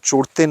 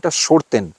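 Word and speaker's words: chorten: সাজানো কখনো দেখিনি মানে অনেকেই উচ্চারণের জন্য চরতেন বলে থাকেন কিন্তু আসল উচ্চারণ সরতেন এবং আমাদের সঙ্গে এর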